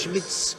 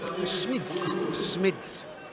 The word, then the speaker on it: Schmitz: Been corrected with my pronunciation of the name, and it's Schmitz. Of who? Schmitz.